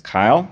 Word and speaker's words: Kyle: my my name is Kyle rhymes with Mile and I would appreciate